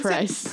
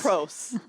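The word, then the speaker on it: Proce: Vincent Price. Pros. Okay. Pros is his name.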